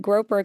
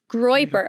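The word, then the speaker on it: Groyper: that he is a part of this like groper community. And I like the mistake there, the Freudian mistake. What? You call it the groper community. Oh, how do you say it? I've never heard of this. Groiper.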